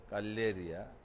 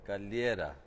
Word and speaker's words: Galliera: diye bilinen Pale Galeria Galleria Eee galliera Pale galliera yanlış telaffuz etmeyelim e Bu mekan Aslında